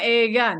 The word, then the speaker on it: 映画: Oh, Eiga. Hai, film. うん。 Kongshu Minna de Eiga ni ikimasen ka? うん。Itu bacanya ega nih.